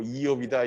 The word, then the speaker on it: 이욥: 그래서 또 이시다 이러지 마시고 욥인데 히브리어 발음으로 하면 이욥이라는 얘기입니다. 그래서 김욕 아니고 이욥이다 이렇게 하지 마시고 직역 성경에 이욥으로 되어 있습니다.